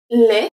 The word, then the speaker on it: les: Les. Les. ES make the sound E.